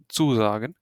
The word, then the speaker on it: sagen: this one means this this is pronounced as zagen yeah this means to